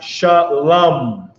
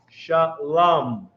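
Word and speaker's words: שלום: So this is how you write it, but it's pronounced shalom. Sha, la, not low, because there's no vowels. Shalama. Shalom.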